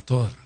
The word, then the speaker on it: Torá: son principios básicos de la torá de la tora más correctamente pronunciado entonces a ver qué